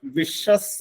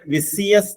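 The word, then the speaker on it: vicious: സി നല്ലൊരു word ആണ് വിഷസ് എന്നാണ് അതിന്റെ ഉച്ചാരണം വി ഐ സി ഐ ഓ യു എസ് ആരും ഇതിന് വിസി എസ് എന്ന് ഉച്ചരിക്കരുത് വിഷസ് എന്നാണ് അതിന്റെ ശരിയായ ഉച്ചാരണം വിഷസ് മീൻസ് അടക്കമില്ലാത്ത അല്ലെങ്കിൽ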